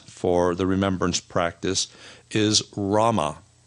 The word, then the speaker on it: Rama: the remembrance practice is Rama Rah is regarded as a sacred name of God and once again you'll notice it has the a sound rahma in it and Rah was a